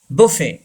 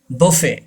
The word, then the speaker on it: buffet: buffet. टी is silent. buffet.